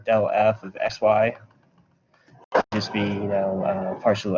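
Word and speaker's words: ∇f: So, oh yeah, this, you can pronounce it del f.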